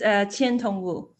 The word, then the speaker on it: Qiantong Wu: Qiantong Wu, do I pronounce it correctly? It's Qiantong Wu.